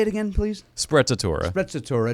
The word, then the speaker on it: Sprezzatura: It's called Sprezzatura. It's like Pizza Tuesdays. You go to the pizzeria. Say it again, please. Sprezzatura.